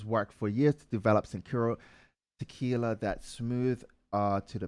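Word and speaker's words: Cincoro: How would you say that? Sincuro. Like Cinco. Yeah. Okay, so Sincuro. Sincuro tequila. Michael Jordan and his partners worked for years to develop Sincuro tequila that's smooth to the palate with rich complex flavor.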